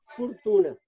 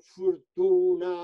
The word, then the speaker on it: fortuna: Espero melhor, fortuna, fortuna, fortuna. O tónico fecha o anterior, que escrito é o, pero pronunciado o.